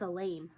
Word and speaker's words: Elaine: That's Elaine, I reply. Rhymes with pain.